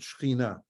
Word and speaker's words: Shekhinah: In Hebrew, we pronounce it Shekhinah, God's presence, and also in that is the Mishkan, the tabernacle, God's presence there.